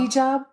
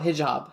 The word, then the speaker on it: hijab: head scarf or a he job am I pronouncing that correctly do you even know a what job hijab hijab oh hijab hijab okay she so she's not she just